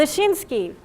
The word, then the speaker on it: Leszczynski: Stanislav, or maybe you can help me to pronounce Stanislaw Leszczynski. Any Polish descendant here? No? Yeah, I'm Polish, but Leszczynski.